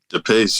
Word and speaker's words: Depace: on the pod the pace right that's how you say it the pace yep you got it yeah that's a badass